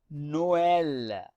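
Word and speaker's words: Noël: To pronounce both vowels separately, we put the trema over the second vowel. So in this case, it will be pronounced as Noel.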